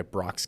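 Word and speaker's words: Brach: Well, dude, I mean, as everybody knows, my name is spelled horrible, right? B-R-A-C-H. It's the worst way out there to spell Brock, but it's actually named after the candy company, Brock's Candy.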